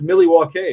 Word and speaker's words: Milwaukee: Actually, did you know that it's pronounced Milwaukee, which of course means the good land?